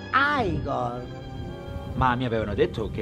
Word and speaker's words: Igor: padrone a padrone allora tu devi essere igor no si pronuncia ai gol ma mi avevano detto